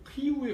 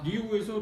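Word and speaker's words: Rio: 근데 리우까지는 바꿨는데 사실은 발음이 이제 히우에 가까운 것 같아요. 히우라고 해야 되는데 리우에서 리우까지 가고 그 다음에는 히우로는 안 가더라고요.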